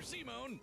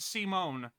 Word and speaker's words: Simone: Oh, and his little brother from another mother, Simone. He was there, too. I guess Simone was a digger content to drill. Pron pronounced Simone. Uh I I definitely I 100% called him Simon for a while.